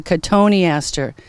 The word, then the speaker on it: cotoneaster: shrubs to sell, and this is called a cotoneaster. I'm sure this is one of the hardest words that my customers have to pronounce because it looks like cotton Easter when you look on it in a paper.